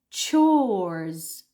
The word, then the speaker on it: chores: we've got CH H in this word is a CH and not a c so not Co but ches ches you need to round your lips extend the vowel o it's a long o it's one vowel it's a Monon and then you just say s so chores chores very good okay